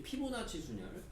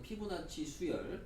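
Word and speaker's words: 피보나치 수열: 마찬가지로 전형적으로 이제 피부나치 순열. 피부나치 순열이냐? 피부나치 수열. 자, 발음 잘해야죠.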